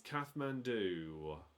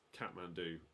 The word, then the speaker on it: Kathmandu: It's Kathmandu. That's what the answer was to question 1. Capital of Nepal, Kathmandu. I mean, it's Kathmandu, but Kathmandu.